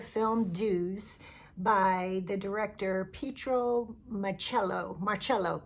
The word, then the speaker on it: Pietro Marcello: So, let's talk about the film Dues by the director Petro Marello. Marello. Petro Marello, I believe, is how you say it.